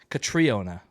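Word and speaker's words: Catriona: Actually, so she it's pronounced Katriona in her interviews.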